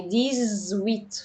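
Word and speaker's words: dix-huit: رقم 19 يعني ديزنافطق ز ديزناف 18 يعني ديز ويت فبنطق الاكس هنا ز ديز ويت ويت ويت امتى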